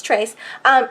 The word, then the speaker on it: Trace: And the cool thing is, Trace, I keep thinking I'm saying it wrong. No, it's Trace.